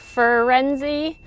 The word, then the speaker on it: Firenze: fur, like a dog, like Firenze.